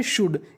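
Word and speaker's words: should: पोटें यानी जरूरी क्षमता एस एच ओ यू एल डी इसे हम लोग पढ़ते हैं शुड क्या पढ़ते हैं शुड यहां पे एल और हमारा ओ साइलेंट रहता है तो मीनिंग बनी शुड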